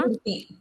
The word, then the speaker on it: कीर्ति: कीर्ति, की के बाद रेफ का आधा र, और फिर हाँ ती, कीर्ति। इतना दूर र लगाने की क्या जरूरत थी, थोड़ा आगे लगा रहे थे। क्योंकि की उच्चारण लॉन्ग साउंड है। कीर्ति कीर्ति, की उच्चारण लॉन्ग साउंड है, ती की उच्चारण शॉर्ट साउंड है।